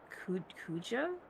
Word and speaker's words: Kuja: Zidane Kuja? Is that how you pronounce it?